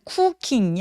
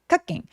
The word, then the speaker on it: cooking: 그다음에 쿠킹은 쿠킹이 아니라 한국어의 으 소리하고 되게 비슷해요. 그래서 크게 크갱.